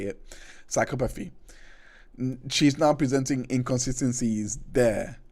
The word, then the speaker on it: psychopathy: Psychopathy.